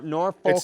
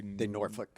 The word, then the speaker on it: Norfolk: it uh norick nor Norfolk Nebraska it's supposed to be Norfolk but I think they say norol or no nor for I think it's spelled Norfork but they say Norfolk oh not like Massachusetts